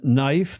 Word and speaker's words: knife: In knife, the K is silent.